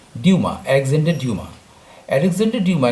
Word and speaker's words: Dumas: ये 19वीं सेंचुरी की बात है, जब एक बहुत बड़े लेखक, उनका नाम था अलेक्जेंडर ड्यूमा, जिनका कि स्पेलिंग तो DUMAS है, लेकिन उच्चारण है उसका फ्रांस में ड्यूमा, अलेक्जेंडर ड्यूमा।